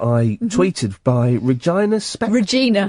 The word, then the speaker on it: Regina: Regina. Regina. Right. Regina. Not Regina. Well, it's spelled Regina.